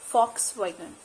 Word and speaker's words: Volkswagen: car brand it's volkswagen fox wagon it's not volkswagen it's volkswagen the v is pronounced as f the next brand